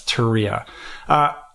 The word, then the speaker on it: Turia: Yeah, it's Turia.